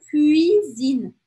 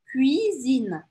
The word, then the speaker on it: cuisine: Cuisine. É biquinho e abre pro i. Cuisine.